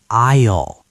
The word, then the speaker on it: aisle: By the way, aisle is pronounced aisle.